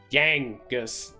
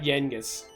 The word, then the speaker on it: Yangus: Also, Yangus is spelled with an A, not an E. Yangus, not Yengus.